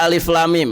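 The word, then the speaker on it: الم: Berarti alif lam mim cara bacanya alif lam. Nah, di situ mimnya ditahan, didengungkan. Ya. Enggak boleh lam alif lam mim. Nah, itu kurang pas. Yang betul alif lam mim.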